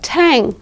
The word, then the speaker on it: tang: be pronounced longer longer that G will be pronounced with tang for example the tang is